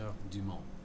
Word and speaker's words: Heures du Mans: to compete in the 24 Heures du Mans. And that is how it's said over there in France.